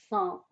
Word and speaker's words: cent: 100 হচ্ছে 100, এটার প্রনাউন্সিয়েশন সাঁ, টিটা প্রনাউন্স করবেন না, এটা জাস্ট সাইলেন্ট হবে।